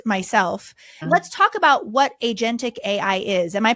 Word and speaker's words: agentic: Let's talk about what agentic AI is. Am I pronouncing that correctly?